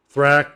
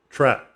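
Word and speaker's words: THRAK: 95 on virgin records of thrac or track why i say that is because it can be pronounced either way um for example i've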